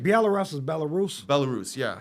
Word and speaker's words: Belarus: clouds of drones getting sent out from either Belarus or Russia, wherever, sent everywhere in Ukraine. Like Belarus is Belarus.